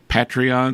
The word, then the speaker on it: Patreon: being one of our patreon is that the correct pronunciation yes a patron on patreon